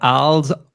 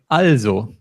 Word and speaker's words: also: It's not also, it's also. Also. Yes.